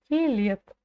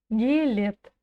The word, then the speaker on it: келеді: Главное ударение будет стоять в слове келеді на второй букве Е. Келет. Гелет. И если вы слышите букву Т в конце, то это тоже верно. Но пишется келеді, а читается келет.